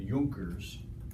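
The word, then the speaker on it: Junkers: nobility and this region are called the euchre's spelled with a J all right part of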